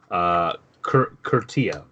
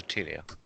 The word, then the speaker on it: Utilia: Jury, you actually recognize, though, that this is Curtia, who is one of the other sisters. It's pronounced Utilia.